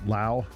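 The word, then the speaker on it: Lowe: His last name is spelled L O We pronounced Lao.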